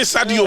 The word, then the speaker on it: Sadio: Sadio Mane. Sadio Mane. Oh, that's what I said. Ah, you said Saidio. Oh, You said Saido. Why you didn't say Sadio Mane?